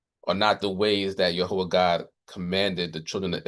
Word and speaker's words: Jehovah: So in the Hebrew text, the name is, we pronounce it here as Jehovah. Many people pronounce it as Yahweh, but the Hebrew consonants of God's name are Yod-Heh, Waw-Heh, which corresponds to YHWH in the English language.